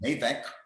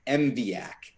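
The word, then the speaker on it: MVAIC: Maximum MAVEC policy. It's actually pronounced MVAC. Almost like NASA. You say the word how it's spelled, but MVAC stands for Motor Vehicle Accident Indemnification Corporation.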